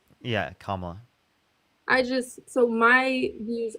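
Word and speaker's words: Kamala: Kamla. Yeah, Kamla.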